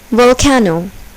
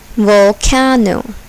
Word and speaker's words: volcano: is accented thin tastic volcano volcano here the second syllable is accented volcano adjustable adjustable here the